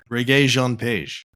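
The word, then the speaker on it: Regé-Jean Page: the Gray Man, and I figured out how to say his name. Reggae Jean Page.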